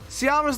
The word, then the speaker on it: Ceará: I looked it up. That's how you actually pronounce Ceará.